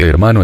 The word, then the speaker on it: hermano: formas fratello y soya la H de hermano es adventicia y nunca se pronunció en la Edad Media